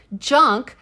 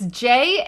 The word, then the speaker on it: Jahnke: But also, Marlene Junk, a Is that that not how you pronounce it? I don't know. It's okay. Let's just pause on this for a second. It's Jahnke. Did you plant this for me to say?